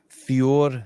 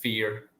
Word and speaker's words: Fior: don't have headphones on bam we're live Rory fure Fitness fure say it for me well we're not a talian so it's it's a more harsh sounded word um it's pronounced fear fear Fe fear Fitness fear Fitness fear Fitness